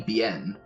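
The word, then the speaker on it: Biehn: name I stay clean I say bean because because it's bi eh n so it might be BN just call Michael be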